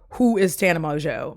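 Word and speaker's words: Mongeau: like who is tan Mojo Mojo which it's spelled differently it's like m o n g a u but she pronounces it mojo as what I'm going to go with and so tan Mojo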